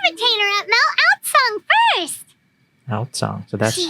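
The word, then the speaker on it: Aozang: Outsong, so that's She how it's usually pronounced.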